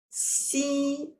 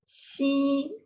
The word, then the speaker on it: 夕: hand which means infinite so it pronounce as C once again C so let's look at